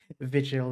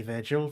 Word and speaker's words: Vigil: I definitely need to Vigil, there's no R. Yeah, I know. This is something about the way we pronounce it in English. For some reason, we kind of add an R into the pronunciation. We do it a lot because it's the same with Dante's Inferno. It is Vigil, but we often say Virgil for some reason.